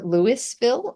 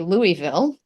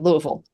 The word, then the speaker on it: Louisville: some very various things it is definitely never lville although that's the way the the city is spelled um you can say Louisville if you want to but now I I wanted to jump right in and sound like a local and said Louisville Louisville okay Louis Louisville okay Louisville it's almost like a two syllable long thing yeah so um